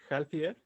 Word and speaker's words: healthier: Pronuncia la TH como es. There we go. I just heard it. Healthier.